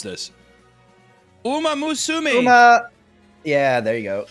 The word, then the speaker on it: Uma Musume: How do you pronounce this? Uma Musume. Uma. Yeah, there you go. Uma Musume.